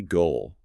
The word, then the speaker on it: goal: And finally, goal. This one has a long o sound like the vowel sound in go or boat or home. It's not a short O sound like in got or hot.